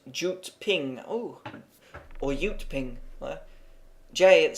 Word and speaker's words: Jyutping: this should be pronounced why ping itself is pronounced jute ping oh or uteping Jay it started pronounce oh